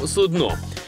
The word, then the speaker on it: судно: Як тут кажемо, судно чи все ж судно? В плані, якщо це корабель або якийсь тазік. А дивлячись що? А різниці насправді немає. Буде то корабель чи посудина, тазік, як ви сказали. Наголос від цього не зміниться. І правильний він тут один.